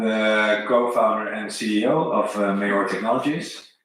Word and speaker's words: Mehar: I'm the co-founder and CEO of Mehar Technologies. The pronunciation Mehar is also allowed.